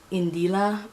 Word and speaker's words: Indila: I believe that her name is pronounced Indila, but I don't know.